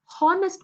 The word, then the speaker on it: honest: Then he is an honest man. Oh, ho. So I'm concentrating something called as honest, hence it is pronunciation which comes into picture.